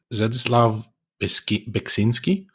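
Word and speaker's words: Zdzisław Beksiński: I'm going to try and pronounce his name. Yeah, go for it. It's Zdzisław Beksinski.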